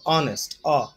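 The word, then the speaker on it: honest: এই ওয়ার্ডটা শুরু হয়েছে, তারপর এটা উচ্চারিত হচ্ছে ভাওয়েল সাউন্ডের মতো অনেস্ট অসাউন্ড, এই জন্য এই ক্ষেত্রে আমরা তার পূর্বে অ্যান ইউজ করতেছি।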